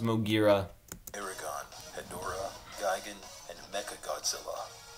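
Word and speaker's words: Moguera: but to like a lot of people, it's pronounced Mogira.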